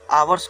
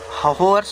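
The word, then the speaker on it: hours: वी टाड फॉर ऑन एन यहां पर आवर्स कहेंगे। ठीक है ना? इसको होवर्स नहीं कहेंगे। एच साइलेंट रहता है तो उसे आवर्स कह देंगे।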